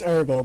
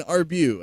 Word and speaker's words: Arbo: pronounce it for me now it's arbo Bud one more time arbo arbo okay I've been saying arbu I believe is well how I said it so I do